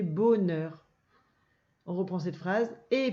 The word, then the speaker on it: bonheur: Alors déjà, il y a un H muet. Et quand on voit O et N, on ne dit pas on. Il faut couper comme ça. B, O, bo, n, e, r, neur. Ça fait bonheur.